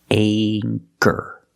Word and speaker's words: anchor: with the long a with anchor the CH makes the k sound so for that reason we pronounce the a with a long a sound anchor anchor this is an